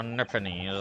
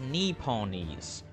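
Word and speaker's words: Nipponese: ready my Lord the nipones are a truly fascinating Breeze um actually it's pronounced NE ponies knee ponies yeah knee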